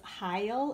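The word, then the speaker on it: Hile: remember Oh Ann Marie I think her net last name is Heil is how you say it H I le but if you can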